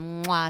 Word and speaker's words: moi: own a company called moi studios sounds like a kiss it stands for makeup